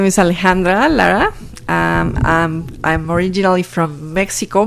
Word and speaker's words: Alejandra: Is Alejandra? That's how you pronounce it? Okay. Yes, perfect.